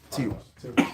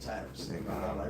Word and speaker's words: Tiras: Tiras? Tiras. Spell it. Tiras. Yeah, okay. That ain't Tyrus.